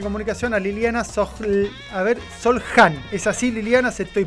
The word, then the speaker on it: Soljan: A ver, ¿cómo se pronuncia Liliana para que ya hacemos escuela? Solhan. Liliana. Liliana Solhan.